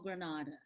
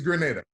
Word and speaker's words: Grenada: like what is it it's grenada grenade grenade granada is a city in spain but the country in the caribbean is grenada grenada you see and they're spelled the same way so it gets it